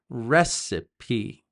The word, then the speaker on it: recipe: also don't forget that word is recipe the pronunciation is recipe many English Learners make a lot of mistakes